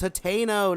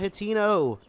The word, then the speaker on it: Hateno: Quite literally Guts says Hateno, not Hatino.